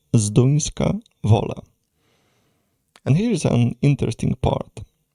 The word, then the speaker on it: Zduńska Wola: So this is how we pronounce them. A bit further east from Sherats is a city called Zinska va.